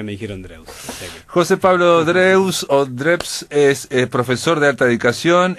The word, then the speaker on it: Drews: Normalmente siempre me decían Dreus acá en Uruguay. Ajá. Es un apellido alemán, es Drebs, pero se acepta Dreus totalmente, porque desde la jardinera hasta la universidad siempre me dijeron Dreus.